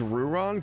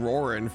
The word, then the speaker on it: Ruron: Wait, is it pronounced Ruron? Gosh dang it. I've been saying Roran forever.